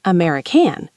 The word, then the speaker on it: American: And watch the stress in American. It's American, not American. The stress is on the second syllable.